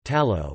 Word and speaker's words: Talo: tallow or to Lao Basque pronunciation tallow is a typical food